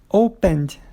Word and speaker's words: opened: E o open? A sílaba forte dele é a primeira, né? Que é o O. Então, opened. Não dobra também.